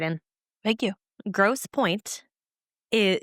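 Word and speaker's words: Grosse Pointe: Gross Point is its place. And I know that's how it's pronounced.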